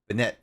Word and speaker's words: Banette: like banette it's like this is how they say it banette pokemon that's just like